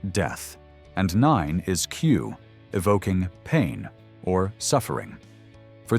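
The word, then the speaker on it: く: In Japan, the number four is pronounced shy, which sounds like death, and nine is Q, evoking pain or suffering.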